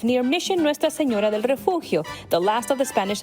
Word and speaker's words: Refugio: But in South Texas, pronunciation varies and even sometimes sparks debate.